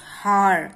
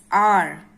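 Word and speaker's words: hour: And r, now see, n r, although h is a consonant, it is silent and the word begin with the vowel sound of a and r.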